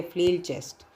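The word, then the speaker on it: flail chest: है वो होता है फ्लेर चेस्ट ठीक है फ्लेर चेस्ट इसको याद रखिएगा एफ एल ए आई एल य स्पेलिंग है फ्लिल चेस्ट तो दिस कैन बी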